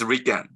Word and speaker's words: RIKEN: So this is pronounced as Riken.